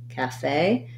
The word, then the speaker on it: cafe: the word cafe um so that has second syllable stress and you might even see it sometimes written with the stress on the e in american english it's going to be the a diphthong so building from the back fey cafe this is the black cat vowel so in the ipa you're going to see it like cafe so just holding that a longer and being shorter and lighter on the calf syllable and while you're at